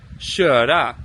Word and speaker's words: köra: Funnily enough, Swedish, the word for drive is almost spelled the same way as in Danish, but in Swedish they say köra, so they have that sh sound.